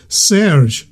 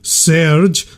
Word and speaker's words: The Surge: You're saying it wrong. It's Serge, not Serge. The way you say it, it sounds like a detergent.